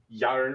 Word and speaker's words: Jarna: Swedish where you say a J is a Y. Yarn J. J Malhari. It doesn't have a Y in the pronunciation.